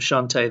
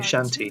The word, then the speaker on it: Shantae: Official pronunciation of Shantae there. I used to say Shanty because that's the pun, isn't it?